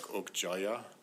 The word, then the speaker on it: Okja: You notice how Okja Mija, the name of of the the the young the young girl in the Korean pronunciations, it was something like Okjaya and it's there's no the anglloized writing of it. There's no Y or anything like that, but it sounds like there's a Y in Korean.